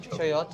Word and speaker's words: chayote: So even when I send a recipe out, so on the board, is it pronounced chayote? Chayote, yeah.